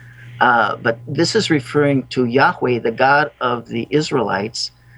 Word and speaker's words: Yahweh: Now, this is pronounced in Hebrew Yahweh. Some people have pronounced it Jehovah. But this is referring to Yahweh, the God of the Israelites, in Exodus, when he delivered them from Egypt.